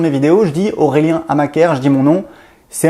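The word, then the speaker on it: Amacker: Donc c'est Amaker, A-M-A-C-K-E-R. Ça se prononce Amaker comme Black et Decker.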